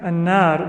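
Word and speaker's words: النار: Similarly, you will sometimes have an extra lam, like in the word annar. Right? Annar, that lam is not pronounced.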